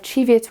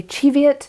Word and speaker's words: Cheviot: in Scotland and I asked someone from Scotland and he said that they say Cheviot I know that some people say Cheviot uh I don't know I'll go with I'll go with the Scottish pronunciation because that's where the Sheep are from I'm not in California